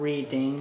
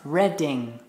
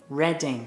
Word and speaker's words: Reading: No, not Reading, not Reading. It's pronounced Reading. Reading.